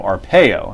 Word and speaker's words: Arpaio: Joe Arpaio, and that's how it's pronounced, by the way. Make sure everybody knows that. Joe Arpaio being Joe Arpaio.